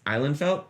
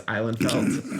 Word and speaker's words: Ihlenfeldt: It's Ihlenfeldt. That's how you pronounce it. It's Ihlenfeldt.